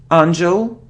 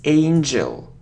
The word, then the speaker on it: angel: it's a very important thing look it isn't angel or angle no it's angel angel angel okay so next it isn't knife